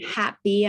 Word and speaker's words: HAPBEE: People think it's happy spelled like the emotion, but that was the play on words. It's actually HAPBEE because our logo is a bee, right? A little bumblebee.